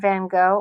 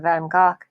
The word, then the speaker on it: Van Gogh: look at this artist vincent van gogh or actually the correct premise in pronunciation is vincent van gaal artists such as the